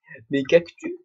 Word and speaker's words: cactus: oublié de remettre mes cactus cactus non je prononce pas le S non mais vous prenez